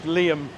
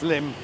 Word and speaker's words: Liem: Or you might think it's Liam. It's Liem. Cuz Vietnamese doesn't have two vowels together. You don't pronounce them, anyway.